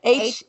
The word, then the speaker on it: Heaux: How she spell it? Heaux. Heaux.